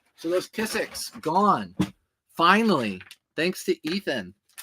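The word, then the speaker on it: Kizik: And they're spelled K-I-Z-I-K. K-I-Z-I-K, and they don't look like it's spelled K-I-Z-I-K, but once you see it, you'll be like, oh yeah, that's Kissick.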